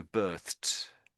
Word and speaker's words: birthed: I would say it's Yeah, it's a t sound on the end. It's tricky. I know. So birthed.